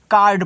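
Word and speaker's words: card: हमने कल की क्लास में आपको बताया था कि जब सी के बाद आपका ए दे, ओ दे, यू दे, तो सी का उच्चारण हम का के रूप में करते हैं।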